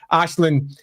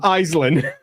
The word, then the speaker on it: Aislinn: Ashlin is not a respector of other people's cultures.